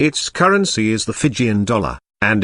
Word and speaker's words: Fiji: and much in demand they called their home Vitti but the Tongans called it fizzy and it was by this foreign pronunciation Fiji first promulgated by Captain James Cook that these islands are now known Fiji the anglicized spelling